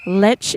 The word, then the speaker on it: Lech: Lech is actually Le. Yeah, Le. You can see it in um asterises. Um it's pronounced le.